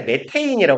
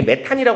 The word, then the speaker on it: 메테인: 이거 그 과학 시간에 메테인이 부르나요 메테인 그죠 그까 이제 그 학기의 중심이 약간 독일에서 미국으로 넘어가는 그런 시신인수이 타이밍에서 이게 메탄이 있는 건 독일 발음 이거든 사실 메탄 가스는 요즘에는 메테인이 부르더라고요 가스라고 뒤에 안 붙이고